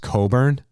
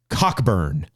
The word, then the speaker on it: Cockburn: her real last name now it's pronounced Coburn okay but phonetically the way it's spelled cockburn I can see why